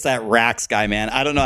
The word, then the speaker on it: Rax: actually saying right but the real way to say my name is Rax Rax was my clan